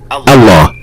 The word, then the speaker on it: Allah: When starting at the word Allah, lam will be pronounced slightly differently from all other words in Arabic. Specifically, it will be a full mouth lam, or as we call it in English, the dark L, as in the word luck.